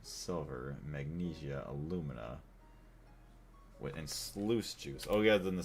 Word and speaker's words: sluice: It's pronounced sluice juice. Is it really? Sluice? I guess. I just think of juice. J-U-I-C-E. So I just say that's just like sluice.